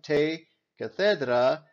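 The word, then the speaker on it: τῇ καθέδρᾳ: That mark there is actually supposed to stand for the letter iota. You don't pronounce it, it just lets you know that this is the dative case.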